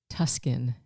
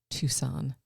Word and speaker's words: Tucson: I actually I said Tuskin instead of Tucson as in Arizona.